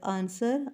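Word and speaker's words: answer: underline करना है रंग रंग में भी डब्लू और आंसर आंसर में भी डब्लू जो है उसको बोला नहीं जाता लेकिन लिखा जाता है लाइट का जीबी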